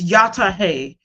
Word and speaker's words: Yataye: So, in the Indian language it's pronounced "Yatahay" and it's a form of greeting.